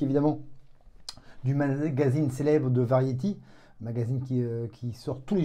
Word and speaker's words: Variety: Je ne sais pas si vous connaissez, mais et quand on le prononce en anglais, ça fait Variety. Voilà, ceux qui m'écoutent et qui parlent parfaitement l'anglais pourront se foutre de moi. Mais ça se dit Variety.